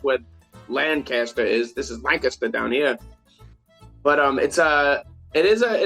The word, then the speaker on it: Lancaster: It's at LA Tap Room, which is in Lancaster. Which, if you're from this area, you don't pronounce it Lancaster, you pronounce it Lancaster.